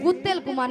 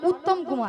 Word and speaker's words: উত্তম কুমার: করে জীব ছিল তুমি জীব ছিল ভালো করে উচ্চারণ করতে পারবে না খালি বলে বলো শ্রী শ্রী শ্রী শ্রী উত্তেল কুমার নয় বলো উত্তম কুমার উত্তম কুমার পলাউডের পেটে আমি কুত্তল কুমার কইয়া